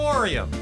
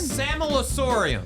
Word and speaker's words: Sammelsurium: I don't think we know how to pronounce a lot of them. Samelasorium. Wait, say it again. Samelasorium.